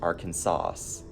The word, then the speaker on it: Arkansas: It should be pronounced Arkansas.